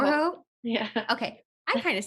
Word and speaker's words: Urho: I kind of It's say just it the right. R that is different for native English speakers than because we roll our R's in Finnish.